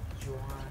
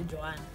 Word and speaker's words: Joan: My name is Joan, like Joan of Arc, or Joan from Girlfriend, or Joan Rivers, like R.I.P.